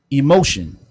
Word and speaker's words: Emocean: Look him up on our Instagram if you can't find his Instagram, which his Instagram is Emotion. It's spelled EMOCEAN.